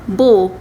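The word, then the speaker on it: beaux: an X, not S, by adding an X after it. For example, beau, it will become beau in plural form.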